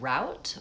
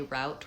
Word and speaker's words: route: I tend to say route with an a vowel and others will say root um the same as the root of a tree with an ooh vowel.